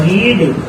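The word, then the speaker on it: read: तो आप यहाँ पर रीड की जो फॉर्म होती है स्टूडेंट है, ये सेकंड भी रीड ही रहती है और थर्ड भी रीड ही रहती है, लेकिन इसको प्रोनाउंसिएशन रेड किया जाता है, रेड।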